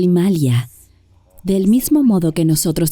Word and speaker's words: Himalaya: también quería decir rápidamente tú y yo estamos diciendo himalayas porque es el bueno correcta para aquellos de ustedes que aún no se han iniciado en la pronunciación sánscrita de las cosas la gente lo llama el Himalaya por supuesto pero en la India se dice el imalia del mismo modo que